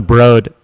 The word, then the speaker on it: The Broad: It's pronounced the Broad.